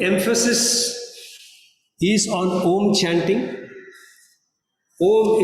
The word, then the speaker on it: Om: Om is supposed to have 3 syllables, A, U, Ma.